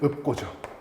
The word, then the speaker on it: 읊고: 자 일단 요거부터 볼까요 읊고가 아니라 얘는 읍고죠 읍고 그 다음 자 여기서